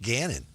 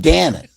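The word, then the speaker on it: Gannon: When When you're when when when your quarterback's name rhymes with Canon, man. Yeah. Not Canon man. Just Ganon. Cannon. Ganon.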